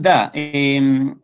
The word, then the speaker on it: the: pronunciación de esta palabra, eso se pronuncia da. Da. Da, esa es la pronunciación normal. Pero cuando, generalmente cuando viene una palabra que comienza con sonido de vocal, como en office, que es oficina en inglés, office, ahí cambia un poquito a I, se cierra.